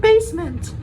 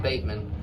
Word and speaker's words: basement: Bateman and basement. Sorry, I couldn't pronounce it right, but I got it right. Basement, not Bateman.